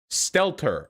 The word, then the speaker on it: Stelter: Are we dealing with poor pronunciation or what? Stelter? Stelter.